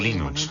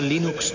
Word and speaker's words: Linux: La primera pregunta de la categoría fácil es, ¿cómo se pronuncia Linux? Bueno, yo Linux lo pronuncio Linux. Sin embargo, si fuese Linus Torvalds, no hay duda de que lo pronunciaría Linux.